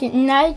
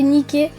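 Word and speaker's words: Nike: à la célèbre marque Nik qui devrait se prononcer nicker parce que le soush de leur logo s'est inspiré des ailes de la DS nické DESS de la victoire et du triomp vous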